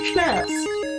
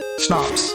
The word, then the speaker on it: Schnapps: I thought it was Schnaps. Schnapps. That's how you say it.